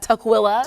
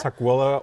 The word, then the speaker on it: Tukwila: there any others at Tukwila Tukwila or Tukwila I've heard it pronounced so what's the difference oh I see you really put the emphasis on the willing and I used to